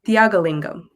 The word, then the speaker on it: Thiyakalingam: Since I have you on here, what's the correct pronunciation of your last name? It's Thiyakalingam.